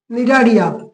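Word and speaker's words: Cnidaria: দেখো বানানটা দেখে নেবে, সি এখানে সাইলেন্ট আছে, নিডারিয়া।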